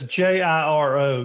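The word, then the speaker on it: Jiro: by the way that's ji ro gear oh that's how you pronounce it yo Dreams of Sushi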